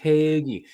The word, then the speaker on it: hoagie: I think it's the silent A, but hoagie, as Billy is pointing out, hoagie. It's pronounced hoagie.